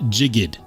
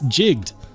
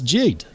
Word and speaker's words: jigged: It's not, it cannot be pronounced jigged. It's jigged. It's jigged. Like rhymes with rigged.